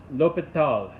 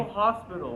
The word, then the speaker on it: L'Hôpital: And so the guy's name was L'Hôpital, or at least I think that's how you pronounce it. I don't know French, but I've tried trying to figure out how to pronounce it correctly. El Hospital.